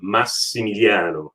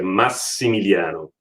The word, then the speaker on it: Massimiliano: So my name is correctly pronounced Massimiliano, which is coming from the Latin Maximilian. So Massimiliano.